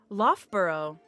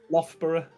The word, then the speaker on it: Loughborough: Firepumpkin pronounce. Loughborough. Loughborough. I don't know very if there's close. like an F. Loughborough.